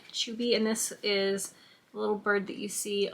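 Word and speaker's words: Chuuby: fun this one is I think it's pronounced chuie um it's c h u u b y chuby and this is little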